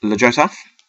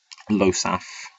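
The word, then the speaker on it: Ljosalf: Next up, Lojosaf, or Losaf, I believe it is supposed to be, but I've always said it like that because when I first saw the card, I didn't know what a silent letter was.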